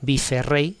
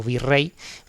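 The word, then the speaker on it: virrey: Eh, no se dice bif rey en principio, ¿no? Sino vi rey.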